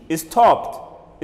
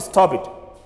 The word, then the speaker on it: stopped: Stop has a P sound at the end, and the letter P belongs to voiceless letters. Therefore, the ED should be pronounced as T. Stopped. Stopped, not stop it. Not stop it. Don't say stop it. Say stopped. Stopped.